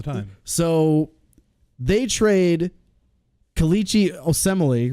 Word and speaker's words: Osemele: free agency signings is the Raiders trading Kalichi Osemele.